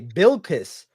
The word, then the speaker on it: Bilquis: No, you said She retweeted me Billiquis. today and sent some hearts at me. You said Billiquis. How do you say it? It's Billy? Billis? Billiquis. Okay, Bilquis. I'm There you go.